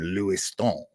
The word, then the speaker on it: Lewiston: there he uh graduated from Bowden College in Lewiston Maine or if you want to uh give it the proper pronunciation Lou Stone because a lot of French Canadian folks uh